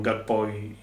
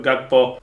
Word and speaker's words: Gakpo: typowa ale zatym g każdy mówi inaczej na niego najbardziej mnie śmieszy Szpakowski jak go wymawia Jest to błędne Mimo wszystko ja wymawiam gakpo tak jak się pisze i mam wyrąbane Jak